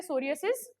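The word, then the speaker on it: psoriasis: ये सारी चीजें अपन पढ़ रहे अब जो अपनी फोर्थ जो डिजीज है उसको कहते हैं सोरियासिस ओके इसके अंदर पी साइलेंट रहता है।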